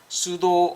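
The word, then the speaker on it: pseudo: 수도 얼버니제이션. P는 잘 발음이 안 돼요.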